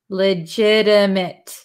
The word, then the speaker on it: legitimate: one is legitimate legitimate so if you listen to the pronunciation this is a flopty legit we don't say mate legitimate MIT legitimate so legitimate if you've